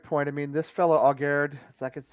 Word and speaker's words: Aguerd: I mean, this fellow Aguerd, that's how you pronounce it, from Rennes.